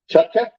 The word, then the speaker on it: Chuck: next up is Michelle Chuck did I get it she said it's just like it spelled I think I butchered